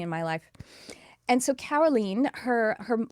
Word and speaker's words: Carolene: It's Carolene spelled like Caroline if you were saying it with an American accent.